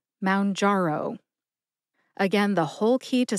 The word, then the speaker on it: Mounjaro: m jaro jar is the second syllable it's jar like a jar of strawberry jam and the last syllable is O like the letter o in the alphabet put that all together and you get M jaro emphasize jar and O see if you can hear that emphasis when I say it slowly Mound jaro Mound jaro again the whole key